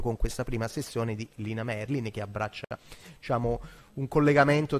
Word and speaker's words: Merlin: E mi fa anche molto piacere che Lina Merlin, ecco, devo correggere la pronuncia veneta, insomma in realtà è Lina Merlin, sia ricordata nell'ambito di questo incontro appunto dedicato alla figura di Elena Marinucci.